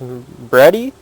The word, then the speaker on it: Bready: It's a 1950 model BW, and I believe it's pronounced Bready, B-R-E-A-D-Y.